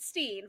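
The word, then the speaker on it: Frederickstein: Frederick Stein or Ste he does pronounce it Steen Frederick Steen Von musil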